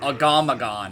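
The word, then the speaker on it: Agamaggan: that difficult of a fight not really oh agamagon okay that's how you say it so yeah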